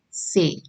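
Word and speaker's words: ces: set right then next is c e s say c e s say now this demonstrative adjective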